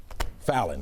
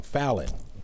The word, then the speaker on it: Fallon: Fallon, I'm saying it wrong. Fallon. All right. You got it.